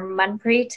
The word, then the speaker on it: Manpreet: My name is Manpreet. It's pronounced, the A is pronounced like a U. So just a correction there, Manpreet.